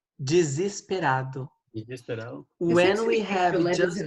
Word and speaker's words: desesperado: How do I pronounce desesperado? Desesperado.